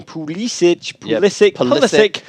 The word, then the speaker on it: Pulisic: Pulisic.